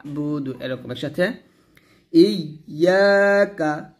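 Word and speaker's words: إِيَّاكَ: তারপর হামজা ইয়া জের ই, ইয়া আলিফ জবর ইয়া, ইয়া কাফ জবর কা, ইয়াকা, এখানে সুন্দর করে বলবেন ইয়াকা ইয়াকা। অর্থাৎ যখন ইয়াটা উচ্চারণ করবেন জিহ্বার মধ্যখান উপরে তালুর সঙ্গে লাগিয়ে ইয়াটা সুন্দর করে উচ্চারণ করবেন, ইয়া, এরকম ইয়াকা।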